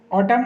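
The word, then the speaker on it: autumn: ऑटम, ऑटम मतलब पतझड़, इसमें एन साइलेंट होगा।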